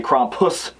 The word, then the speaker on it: Krampus: and I love cromus I got to say cromus otherwise Steve will give me a from Nightmare makers cuz I'm saying it wrong cuz we all say it wrong so when I saw